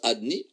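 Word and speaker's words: אדני: Donc le Shem Yud Ke Vav Ke, pourquoi est-ce qu'on le prononce Adni? On le prononce Adni parce que Adni, c'est le lieu de son expression.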